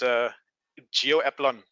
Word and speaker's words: Gio Aplon: How do you pronounce your name? But it's Gio Aplon.